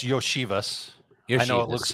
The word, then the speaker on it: Iosivas: Well, first of all, it's Yoshivas. I know it looks like Iosivas, but it's Yoshivas for.